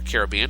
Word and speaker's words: Caribbean: Northwest part of the Caribbean Sea or Caribbean depending on your pronunciation and your preference there the uh disturbance